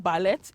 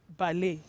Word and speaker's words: ballet: one time or the other it is not ballet it is ballet and lastly we have b-o-m-b b-o-m-b a lot of you pronounce the word as bomb no it is